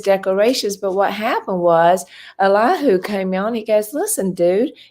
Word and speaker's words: Elihu: Now, you can pronounce that 4 different ways, so I just do Elihu. That seems to be the most prominent in the Hebrew.